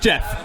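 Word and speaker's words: Jefe: but it's it's pronounced Jeff yeah yeah I just I just spelled it wrong yeah the E is silent L Jeff thanks for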